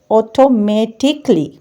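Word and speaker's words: automatically: ठीक, कली, कली को हटा दें, ए पहले भी कहा था नहीं पढ़ना तो अब भी नहीं पढ़ना, ऑटोमेटिकली, ऑटोमेटिकली, ठीक है, ये इसकी प्रॉपर प्रोनाउंसिएशन है।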